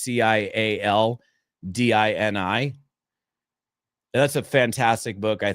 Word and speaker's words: Cialdini: I don't know how you pronounce his last name. It's Cialdini. It's Cialdini.